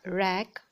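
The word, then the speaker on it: wreck: طيب عندي كمان راك، ال W بتتنطقش فبتبقى راك حطام السفينة، دي كلمة مهمة.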